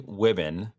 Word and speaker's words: Wuebben: friend of mine, Wuebben. I said it right. Yep, it's women like ribbon.